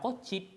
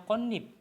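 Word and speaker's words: 꽃잎: I IP ini daun tapi bukan dibaca kciip tapi dibacanya konip nanti nnya yang yang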